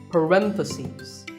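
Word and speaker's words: parentheses: you're talking about both the plural is parenthesis the last syllable becomes cease parenthesis word number 47 is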